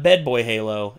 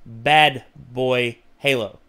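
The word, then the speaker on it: BadBoyHalo: It's not Bed Boy Halo, it's Bad Boy Halo.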